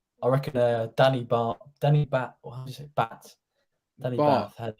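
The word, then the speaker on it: Batth: Danny Bath had a... That's how you pronounce it. B-A-R-T, like from Simpsons.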